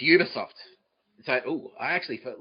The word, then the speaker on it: Ubisoft: Is Uberoft or Ubisoft? Okay, it is Ubisoft.